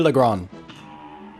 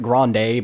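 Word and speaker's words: Le Grande: boss which is goopy lagron now people call it Grande but it's French so you don't pronounce the e because you don't pronounce the last letter now okay I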